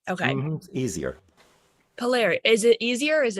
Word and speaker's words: Palieri: and then immediately I forget exactly how you pronounce it. Tell me Well, you again. could you could just say Palieri. Palieri. Okay. Easier. Palieri.